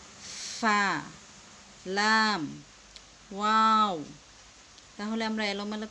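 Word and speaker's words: ف: ফা বলতে গেলে উপরের দাঁতের আগা নিচের ঠোঁটের পেটের সাথে বাহিরের দিকে একটু বাতাস বের করে তারপর উচ্চারণ করতে হবে। ফা।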